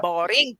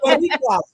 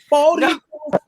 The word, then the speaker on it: Boricua: Thursdays we have the What in the boring game? Wait, Nettles, how do you say it, Nettles? What in the Boricua? Boricua.